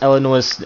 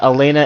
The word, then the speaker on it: Elena: guys a disclaimer that I kind of missed pronounced eleanor's I mean Alana's name the entire time and called her Eleanor throughout the entire review so yeah I just want to warn you guys about that Elena is apparently Ellen one out so yeah that's Justin